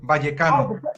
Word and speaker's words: Vallecano: No, like the V is almost a B. Vallecano. Vallecano. Okay. But it's spelled right. Ryan's got his failed Spanish. The N, the N before the C doesn't go. It doesn't exist. He's put an N in. It's Vallecano. Okay.